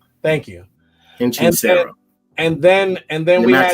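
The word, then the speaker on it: Hechicero: By the way, his name is pronounced Hinchisero. Thank you. Hinchisero.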